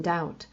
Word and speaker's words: doubt: Sometimes they added silent letters to words, like the B in doubt and the L in could.